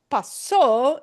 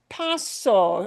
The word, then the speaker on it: pasó: But paso, spelled the same way, but putting the punch on the o instead, that's a past tense ending.